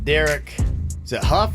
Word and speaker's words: Derek Hough: birthdays going down today Derek Hough is how you say the kid's name he's a dancer yeah